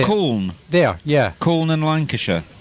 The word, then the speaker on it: Colne: Colne.